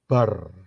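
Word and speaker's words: בר: rest sebelah kanan ya Be dan rest itu kalau dijadiin satu itu bacanya bar bar itu adalah Son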